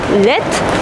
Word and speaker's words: laid: Donc, « lait », ça veut dire « pas beau », ça s'écrit « l-a-i-d », mais on prononce « laitte ». Masculin, féminin, c'est « laitte ».